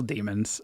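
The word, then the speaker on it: Daemon: Uh Yeah, that act demon smithing uh because they're demon or they're still demons. Uh it's just spelled with an a. So I just got to say demon.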